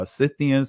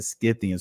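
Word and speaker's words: Scythians: some pronounce it uh cians some pronounce it skians some pronoun in both ways so who are the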